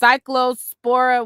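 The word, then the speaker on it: Cyclospora: Um, somebody said it's pronounced cycllospora, whatever the hell.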